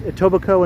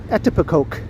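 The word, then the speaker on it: Etobicoke: tobaco hey quesadilla hello Lena and yes it's pronounced toico and not how did that there was a show where someone mispronounced it an American was trying to pronounce a tobaco and it came out something like etoke it's not ET etoke ET I can't even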